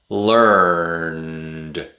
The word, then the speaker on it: learned: Notice that the e at the end of the word is silent.